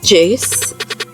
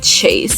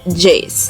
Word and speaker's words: Jayce: Before we start the video, my name is Jayce, Jayce. I had to spell it out because sometimes, sometimes someone will say Chase, and it's like, it's not Chase, it's Jayce. Like, it's kind of like,